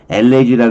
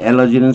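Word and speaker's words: elegy: 그에 비해서 우리가 흔히 말하는 엘레지라 그러죠. 엘레지. 근데 엘러지는 사실은 발음은 엘러지예요. 엘러지.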